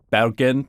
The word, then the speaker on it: Bergen: this is the city of Bergen in Norway apparently it's pronounced more like ban in Norwegian but I'm not going to try